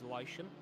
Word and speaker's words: Leishon: How I actually say it is Leishon. So it's like Leishon. That's fine. But Leishon is the more so like Leighton, but Leishon instead. But I say Leishon is how I pronounce my name.